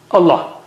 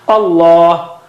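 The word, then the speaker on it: الله: Allah, it is the thickest letter, and after that comes sad, dha, ta, za, and so on. So Allah, the lam of Allah, the word Allah is thickest. Allah. You don't say Allah. Don't say Allah. Allah, like that.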